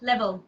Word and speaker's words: LBL: microphone is off so it's actually pronounced level so okay sorry and